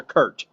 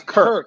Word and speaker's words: Kirk: You said Kirk, but some people hear Kurt. So yeah, yeah, it's Kirk.